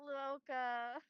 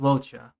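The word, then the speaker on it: Luocha: my gosh, I went loca. Yeah, I think it's pronounced Locha.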